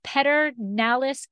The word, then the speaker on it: Pedernales: remotely traveling to texas with julie culkin of peter nalis sellers did i say it correctly you did